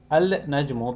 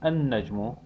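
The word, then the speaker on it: النجم: to the solar letters al najmu becomes an najmu and in the lesson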